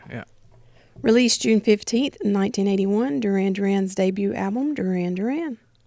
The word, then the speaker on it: Duran Duran: Released June 15th, 1981, Duran Duran's debut album, Duran Duran. Duran Duran.